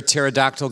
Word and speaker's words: pterodactyl: can't you hear a pterodactyl going to the bathroom because the p is silent so urinary frequency urgency